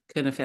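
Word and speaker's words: Cynefin: It's written Sinefin, but it's a Welsh word pronounced Kinefin.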